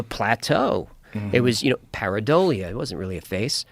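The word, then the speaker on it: pareidolia: Paridolia.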